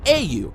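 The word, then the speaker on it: 英雄: you see in Japanese the word hero is pronounced a you and when you invert it you get UA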